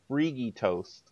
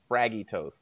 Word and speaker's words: Freagytoast: While I'm tweeting out, it's pronounced, for those of you watching the stream, it is pronounced Freagytoast, not Fraggytoast.